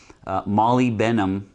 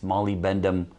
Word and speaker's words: molybdenum: This is a 7/8 chrome molybdenum. How do you pronounce that?